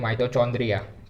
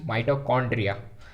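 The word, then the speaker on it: mitochondria: कुछ लोग जो है इसको गलत प्रोनाउंस करते हैं, बोलते हैं माइटोचॉन्ड्रिया, ठीक है। इट्स नॉट माइटोचॉन्ड्रिया, इट्स माइटोकॉन्ड्रिया, corn, ice cream corn, माइटोकॉन्ड्रिया, pseudopodia and chloroplast, ठीक है।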